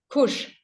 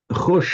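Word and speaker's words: खुश: Kush. Khush. No, hang on. Sorry, my iPad's going funny. Khush, actually. That's that's from the Persian khush. Okay. And which then comes pronounced as a khush in Hindi.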